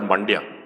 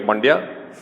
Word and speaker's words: Mandya: I use this example because it rhymes with India, but there's a district called Mandya, right?